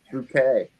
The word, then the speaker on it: Bucket: be really Posh and the name was Mrs bucket but she said it's pronounced bouquet um and I just